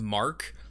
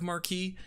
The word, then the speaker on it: marque: video, I was like, is it actually letter of marquee? And then I like Googled the pronunciation, and it is letter of mark, and I was like, fuck.